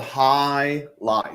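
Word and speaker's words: Hialeah: It's called high lie. Just you're reading it phonetically or you're reading it how it's spelled. It's just think of it as HIGH and LIGH.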